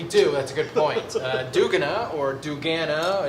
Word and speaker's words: duganA: duganA.